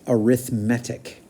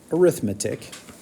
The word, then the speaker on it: arithmetic: anymore they're called this you're going to think that this is pronounced arithmetic because in some contexts this word is pronounced that way this is one of the only words that I know where you pronounce it differently if you mean something different this is pronounced arithmetic not arithmetic it's a pronounced an